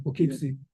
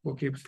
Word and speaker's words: Poughkeepsie: Is that the proper pronunciation? Poughkeepsie. Poughkeepsie. Poughkeepsie, yes, yes, connects Poughkeepsie and the town of Lloyd.